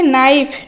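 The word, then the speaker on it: knife: Next अछि नाइफ नाइफ हैला छुरी आमे काइफ कहउचंती कि ना सी लिखुचंती ना एन रु स्टार्ट करचंती स्पेलिंग रहिबो के एन आई एफ ई नाइफ रहिबो किंतु एठी केटा रहिबो कोन साइलेंट।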